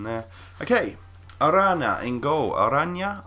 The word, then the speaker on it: Arana: Arana is how I pronounce it, and he is a cat-like, fantastic goalkeeper.